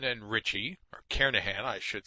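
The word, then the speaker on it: Kernighan: will be using the kernigan and Richie or Carnahan I should say that g is silent karenahan and Richie see programming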